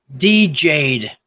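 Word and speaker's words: Djed: let's see what is how it's pronounced DJ'd oh like a DJ you got DJ'd man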